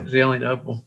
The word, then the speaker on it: Zelienople: Yeah, Zelienople.